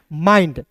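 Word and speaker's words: mind: एम आई एन डी माइंड।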